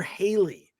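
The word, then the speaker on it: Halle: the movie is uh I always get her name wrong Hallie Bailey Hallie Hallie or Haley Haley Hallie Bailey Hallie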